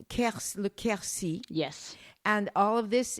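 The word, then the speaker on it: Quercy: river is part of a an area called Ki yes and all of this is that's spelled Q RC y right and all of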